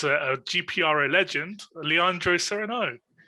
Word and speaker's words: Leandro Sereno: Okay, in Portuguese we say Leandro Sereno.